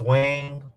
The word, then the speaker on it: Weng: Um, it's Wing. Wing is spelled WENG, and then Sharon Lapu.